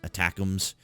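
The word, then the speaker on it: ATACMS: give you an idea of attacks pronounced attacks is a supersonic guided missile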